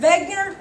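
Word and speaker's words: Wegener: v w y v even though it's a w it's pronounced with a v because he's german okay anytime you have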